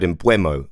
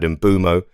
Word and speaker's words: Mbeumo: I've done it myself, there's 3 ways I've said his name over the course of his career. The 0.5 is for the native pronunciation that no one can ever nail. But the 3, I've had Mbeumo, I've had Mbeumo, I've had Mbomo.